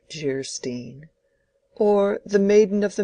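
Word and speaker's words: Geierstein: it for sale and man of Guerin pronounced jarstein or the maiden of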